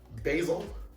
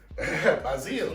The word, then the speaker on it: basil: to cover it in basil basil choose your pronunciation don't force me which one bazil that's a little too frenchy i feel i was